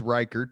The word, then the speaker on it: Ryckaert: last name so so your last name is reichert but it is spelled yeah it's r y c k a